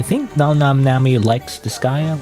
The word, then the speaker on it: Disgaea: That's how you pronounce that, like Disgaea? It's a funny name because it just makes me think, well, it's like this guy, you know, as in like this guy. But no, it's Disgaea.